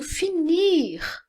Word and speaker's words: finir: Já aqui no finir, aqui eu tenho a pronúncia do R no final, mas aqui não.